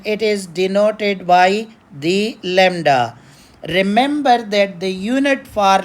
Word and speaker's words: lambda: name for it but that b is silent Lambda people are calling it Lambda it is written as